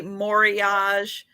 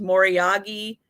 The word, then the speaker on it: Moriage: And then when we talk about, you'll see some people say Moriage. When it's from Japan, it's more typically pronounced Moriagi because it's more Japanese way of pronouncing it.